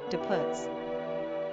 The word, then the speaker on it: Diputs: Pronunciation, Diputs.